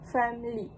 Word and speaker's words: family: According to Oxford dictionary, the official transcription is family. This is the typical reduced form used in fluent British English. In this pronunciation, the middle schwa sound is dropped resulting in two syllable word family.